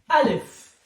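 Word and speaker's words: ألف: will teach you how to pronunciation, how to pronunciate, how to say it. The name of the first letter is Alif.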